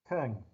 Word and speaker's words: Teun: I have no idea how you pronounce an EU in Dutch. Yeah, it's Teun.